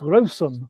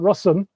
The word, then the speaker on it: Rossum: the company that I always want to pronounce rosum for some reason but rossom um do you want